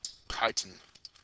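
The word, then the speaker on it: chitin: cell walls are made of a carbohydrate called Titan that's how you pronounce that now let's talk about the cell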